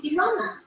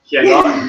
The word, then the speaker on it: Ilona: It's not Elona, it's Ilona. Helona? No. You know what the funny thing is? Yeah, the thing is that if you don't, if some Greeks don't understand how to pronounce Ilona's name, so they said Helona, which means turtle in Greek, and they're like, what?